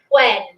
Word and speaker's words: when: We don't say what, when, where. We say what, when, where. We flatten it out. We don't make the H sound anymore.